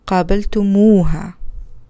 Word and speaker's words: قابلتموها: In this case, the subject ending tum for antum adds a long vowel wa for ease and beauty of pronunciation. So we have an example here. قابلتم أنتم قابلتم هي, so ha, قابلتم ha, but since it's kind of difficult to pronounce, in Arabic there is a long vowel wa to make it easier for pronouncing.